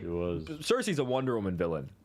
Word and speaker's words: Cersei: Cersei, yeah.